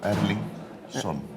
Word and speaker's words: Erlingsson: I have to pronounce this right. Erling. Ja, Erlingsson.